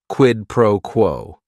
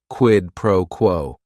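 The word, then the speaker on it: quid pro quo: right here quidd proquo it is three words each word is only one syllable and if you're saying it together the stress is kind of on that first word and that last word quidd proquo what this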